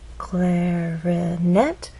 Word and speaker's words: clarinet: Clarinet has 3 syllables, clarinet, but it's the final syllable that is stressed, and there's a pause right after, which means there's nothing following.